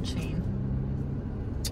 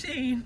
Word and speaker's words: Shein: How do you pronounce it? Sheen. I thought it was Shein. Like she's in style. Sheen. Comment down below. Is it Shein or Sheen? It's Sheen.